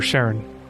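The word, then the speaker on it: Charon: Pronunciation. Oh, Karen. Okay, so it is Karen.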